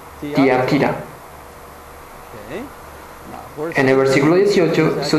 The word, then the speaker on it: Tiatira: la iglesia de tiatira los estadounidenses y los chicos británicos pronuncian tatira pero la pronunciación real es tiatira tiatira en el versículo 18